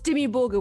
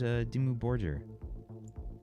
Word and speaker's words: Dimmu Borgir: Is that the way you pronounce it? I always thought it was Dimmu Borgir. I always went Dimmu Borgir. Okay. The hard G, but I don't know.